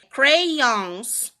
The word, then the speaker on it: crayons: Eles defendem a pronúncia com 2 sílabas, que seria essa daqui, ó, com 2 sílabas, que é o crayons, ons, tá vendo o S? Ons. Gente, a pronúncia do A e do W é ó, crayons, tá? Ó, de awesome, awful, strawberry, ó, tudo tem som de ó.